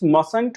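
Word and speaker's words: mustn't: तो मसंट नहीं इट्स मसंट होगा। T should be written it silent.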